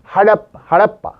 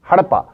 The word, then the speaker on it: हड़प्पा: आपको बोलता हूं कि जो लोकली इस नाम को किस तरह से प्रोनाउंस किया जाता है, that is हड़प्पा, that is हड़प्पा। तो हड़प्पा या हड़प्पा इसको असल में बोलते हैं।